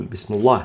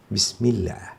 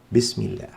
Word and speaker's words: بسم الله: لام لفظ الجلالة مفخمة، في حين أننا إن كان ما قبلها مكسور كما في بسم الله، هنا الميم مكسورة فتأتي لام لفظ الجلالة هنا مرققة لا مفخمة. نقول بسم الله، لا نفخمها فنقول بسم الله، هذا خطأ. الصواب بسم الله، بسم الله.